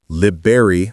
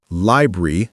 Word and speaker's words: library: Many learners say liber like the fruit or library, dropping the first R, or liary, adding weird Rs. The correct pronunciation is library or library with three syllables.